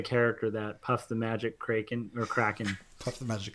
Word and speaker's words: Kraken: Tim in the chats said Puff the Magic Kraken, which I think is really cool, but I should say Kraken, because once again I mispronounced that, but that's cool, Tim.